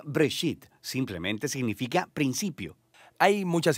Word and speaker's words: Bereshit: génesis génesis viene de una palabra hebrea se pronuncia break sit simplemente significa principio hay muchas historias en el